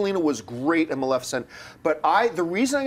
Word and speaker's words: Maleficent: It's Maleficent, but it's so hard to not say it right.